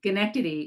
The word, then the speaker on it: Schenectady: I wish I lived closer to where you are, Schenectady. Did I say that correctly? Schenectady.